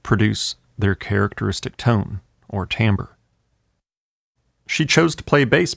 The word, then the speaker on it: timbre: timbre. It's often mispronounced because of its spelling.